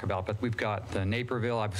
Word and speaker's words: Naperville: But we've got the Naperville, I was saying it wrong before, Naperville, Illinois ruling, the Supreme Court, not Supreme Court, the 7th District Court ruling.